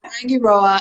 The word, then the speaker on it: Rangiroa: of Rangiroa and Fakarava, everyone's favorite island to pronounce. Fakarava. So it is Rangiroa and Fakarava.